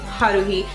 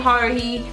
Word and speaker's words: Haruhi: Orange High School Host Club is about a kid named Haruhi. I don't ever say it right. Haruhi. That's how I say it, with an accent, not Haruhi. It's Haruhi, and she joins, or she